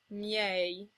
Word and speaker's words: miei: If an I comes right before another vowel, it becomes the glide y, as in miei.